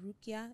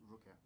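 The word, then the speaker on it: ruqyah: right to do um probably gonna pronounce it wrong but it's called Rukia it's like Islamic cleansing Islamic Deliverance basically Ria yeah is um uml Rukia Ria yeah Islamic exorcism so um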